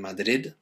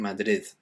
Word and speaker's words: Madrid: uh to practice saying there's more like a th on the end very softly the same happens people who live in madrid they don't say um bibo in madrid they say bible in madrid okay so again it's